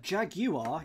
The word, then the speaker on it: jaguar: A jaguar, it has 3 syllables, and it is agua in junior for JR.